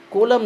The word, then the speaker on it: column: الاثنين صح ماشي اللي وراها بقى كلمة column column ديت عمود بص الان في الاخر ما بتتنطقش column ما تنطقوش الان طيب معناه ايه